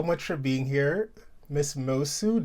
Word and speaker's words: Moço: Did I say it correctly? You got it right this time, honey. This time, oh my god, yes. I don't know why I was struggling with that. I was like Musu, Mosu.